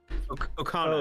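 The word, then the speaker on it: Okona: How do you pronounce it? Okana.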